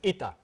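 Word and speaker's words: Eta: it's pronounced let H it's not an H this is not Latin this is Greek and that is i.e it's pronounced etta it's the Greek word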